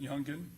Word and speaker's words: Youngan: Is that how he pronounces it? Youngan.